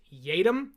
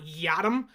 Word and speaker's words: Yiadom: and Isaac yadam yes it is Yum it is not yam as his name looks like it's spelled out y a y i a doom it's yum not yam but let's dive into